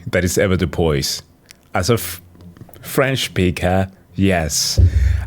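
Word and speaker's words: avoirdupois: sorry hold on I had to it is pronounced correctly that is ever to Poise as a French speaker yes a which literally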